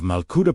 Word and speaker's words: Malkuta: Yet, Jesus quietly dismantled this entire pattern when he spoke of Malkuta, pronounced Malkut, meaning the living divine reign.